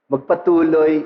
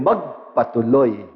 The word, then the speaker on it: magpatuloy: dapat na magpatuloy SAO kaunting accent lang iba na ang meaning magpatuloy ibig sabihin to proceed to continue pero yung magpatuloy accent on the last syllable means to Welcome To Say Please in Tuloy po kayo at ito ang topic